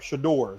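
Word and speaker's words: Shedeur: Shador, that's how you say his name.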